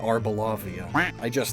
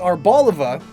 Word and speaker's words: Arboliva: It's Arboliva. Arboliva. Or is it Arboliva? Either way, though, there's no second O.